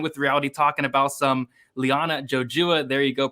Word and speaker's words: Liana Jojua: We got Sparring with Reality talking about some Liana Jojua. There you go.